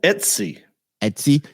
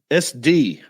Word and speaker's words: Etsy: Etsy? Etsy? Yeah, Etsy. You were saying SD at one point. Like STD.